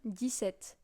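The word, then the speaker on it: dix-sept: go with 17 now 17 is this at this set it's like if you were saying the number 10 and the number seven 10 s des set the number 17 so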